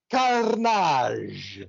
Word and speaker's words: Karnage: It is I, that panic-provoking pirate, Don Karnage." Oh, you rolled the R. It's fantastic. Roll your R.